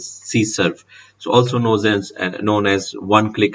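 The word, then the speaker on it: CSRF: So the cross-site request forgery basically sometime it's pronounced as CSERF.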